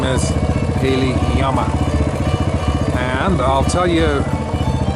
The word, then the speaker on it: llama: I guess in Spanish, the L in llama is not pronounced the hard way that we pronounce it. It's llama.